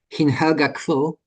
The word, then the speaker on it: Hin Helga Kvöl: album, a new Sólstafir album, which is called Hin Helga Kvöl, if I'm pronouncing it right.